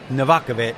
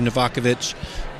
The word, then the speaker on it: Novakovich: tri-cities and and michael i'll always say his last name wrong novakovic thank you novakovich um who who was